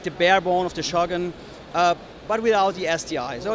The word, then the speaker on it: Shogun: one is for the Shogun. Okay. And by the way, it's not pronounced Shogun. Shogun. Shogun is Shogun. A Japanese word, so okay. be respectful yes. And say it like it is. Okay?